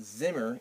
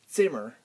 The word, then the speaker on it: Zimmer: English is z while the Z in German is like a TS together it's not Zimmer it's Zimmer it's not Zite it's